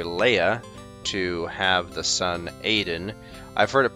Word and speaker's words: Adan: heard it pronounced um a Dan Adan uh how else of course Aiden is the way I pronounce it um a Dan I've heard it pronounced like seven different ways and I don't even